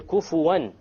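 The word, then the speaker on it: كفوًا: And the last point here, kufuwan. How did we pronounce the noon there? Clear. Idhar, clear. Why? Because what is after it? The Hamza.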